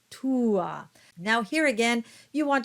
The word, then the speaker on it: tua: might, in some instances, put a bit more emphasis on the first of the two vowels, especially when they are at the beginning of the word, such as meam or tua.